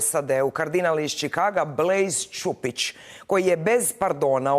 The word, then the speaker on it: Blaise: Mine is spelled B-L-A-S-E. It's Anglicized or Americanized, and it's pronounced Blaise.